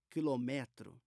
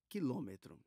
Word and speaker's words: quilômetro: usada é o quilômetro Eu já ouvi gente falando quilometro mas a pronúncia certa é quilômetro e equivale a 1000